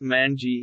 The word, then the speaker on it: 卍: In China, it is named Wanwan, Wanwan meaning all things, pronounced Manji in Japanese.